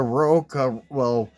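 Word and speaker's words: RAOK: It was a Roca, that's how they pronounce it, but it's the Random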